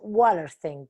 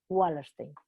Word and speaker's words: Wallerstein: Pero si es anglosajón, es wa. La W se pronuncia Wallerstein.